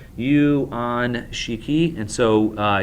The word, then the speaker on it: Yuan Shikai: is I just want to make sure I'm pronouncing it corre correctly uan Shiki and so uh Yuan shikai these two individuals uh VI for control of